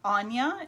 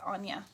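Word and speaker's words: Áine: first one is um anya it looks like ain a-i-n-e it's anya she is irish um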